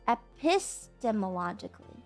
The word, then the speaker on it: epistemologically: It's definitely the accent is on the piss, yes? Epistemologically.